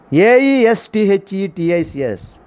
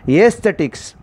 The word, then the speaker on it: aesthetics: A-E-S-T-H-E-T-I-C-S. What is the pronunciation? Aesthetics.